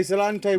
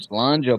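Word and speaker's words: sláinte: I was going to say Salante when I came back, so let me pour a little drink. Slanger, bro.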